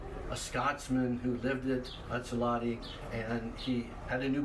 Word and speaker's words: Utsalady: And the pronunciation in Lushootseed, I'm going to butcher this for you, but it's like Utsalady.